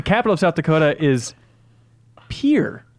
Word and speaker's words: Pierre: The capital of South Dakota is Pierre, not Pierre. Oh. He says it's not pronounced Pierre.